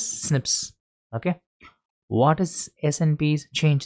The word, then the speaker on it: SNP: Scientists found 1.4 million locations of the variation called SNPs single nucleated polymorphism pronounces snips.